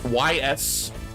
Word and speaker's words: Ys: Ys, Y-S, it's pronounced Ys.